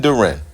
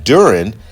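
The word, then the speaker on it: Duren: And that's Jaylen Durant. And the reason why I'm running Jaylen Duran, let me say his name correct. Jaylen Durren is because Philly doesn't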